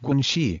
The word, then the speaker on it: guanxi: that connection is successful guanxi pronounced quinchi which are social or